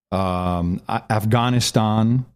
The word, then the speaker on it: Afghanistan: We have to talk about Afghanistan. That's how you pronounce it.